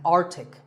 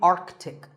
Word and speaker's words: Arctic: Pole of the earth it's mispronounced by many as Arctic but it's actually Arctic the sea in the middle is not silent similarly aunt Arctic and